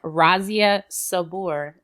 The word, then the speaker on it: Razia Sabour: today we have my lovely friend here Chef Razia Sabor is that how you pronounce pronounce it absolutely yep okay so Chef